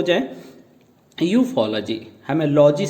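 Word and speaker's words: ufology: यूफोलॉजी, हमें लॉजी से नहीं तोड़ना, एल को अलग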